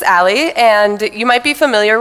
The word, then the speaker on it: a11y: So this is pronounced as Ali, and you might be familiar with it if you've ever heard of I18n, because they're both alphanumeric acronyms.